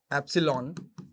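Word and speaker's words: ε: यार ये स्पेलिंग है, एप्सिलॉन बोलते हैं इसको, ठीक है।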